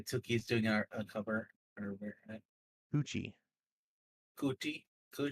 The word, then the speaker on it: Tucci: Billy Tookie's doing a cover or Tucci. Coochie Coochie Tucci. what Tookie Tucci. Coochie Tucci. Tucci Tucci. Rhymes with coochie.